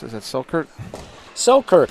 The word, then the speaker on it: Selkirk: one of our sponsors uh how do you pronounce is that silkert so kurt selkirk selkirk sports uh they are pickleball they've been